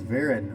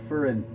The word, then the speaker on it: Varen: be using today is veran or fern i think is how you actually pronounce it it was made with